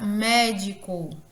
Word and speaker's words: médico: A palavra médico, o mé é pronunciado com maior intensidade.